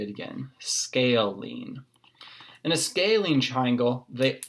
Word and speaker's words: scalene: isn't the most obvious thing on how to pronounce us say it again scalene in a scalene triangle they all have different